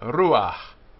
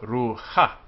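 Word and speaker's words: רוח: Just like the case of ruach, ruach, not ruha.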